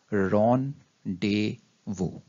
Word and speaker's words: rendezvous: of tongue twister and correctly pronounced as ron de vue moving further to its